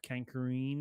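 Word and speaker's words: Carkoon: and then drop people into the pit of Kankareen. Is that how you say it? Carcoon.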